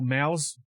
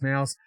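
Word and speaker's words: MOUZ: Also in stage three, we have the Mongols, Furia, Mo, um or Maus, it's pronounced mouse, uh and Aurora Gaming,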